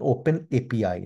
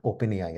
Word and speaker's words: OpenAPI: open API um pleas please note my uh pronunciation open API not open AI right so there are